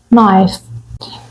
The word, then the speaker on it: knife: مطبخ نايف نايف نايس يعني سكينه والكي سايلنت نايف كيتشن وال كيتشن رول